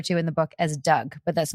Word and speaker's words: Dug: Led by a guy we refer to in the book as Doug, but that's not his real name. Exactly. Okay. Yeah. I like that you chose the name Doug because it sounds like...